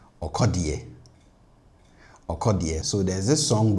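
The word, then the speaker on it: ɔkɔdeɛ: And also his name, Sarkodie, kind of rhymes with okodie.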